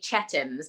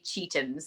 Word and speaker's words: Chetham's: It's actually people, I think it's pronounced, no, it looks like it should be Chetham's, but it's actually Cheatham's. That's how we pronounce it.